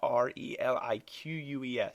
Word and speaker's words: Reliques: Relics is spelled R-E-L-I-Q-U-E-S. Reliques?